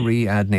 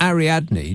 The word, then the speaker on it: Ariadne: Ariadne. That's 4 syllables.